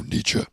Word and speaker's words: Nietzsche: I never actually knew how to pronounce his name. Oh, Nietzsche.